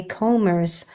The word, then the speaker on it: combers: salt in long gray combers, hauling new shapes on the beach sand. And I looked the word up, and it means breakers. Mhm. And I originally pronounced the B, but it's like beachcombers.